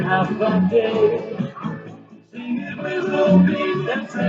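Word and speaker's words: Håfa Adai: Keep that letters I know you have heard, and the spelling A-F-double-A-D-A-I. It's as easy as 1, 2, 3. Just pronounce it as then half a day.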